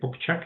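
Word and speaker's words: Popcak: So I can this is a book that I recommend this book the broken gods written by a psychologist psychologist Gregory Pchk Pchak is pronounced I think it gives you a good reading for for improving or for fostering these things on psychology and spirituality.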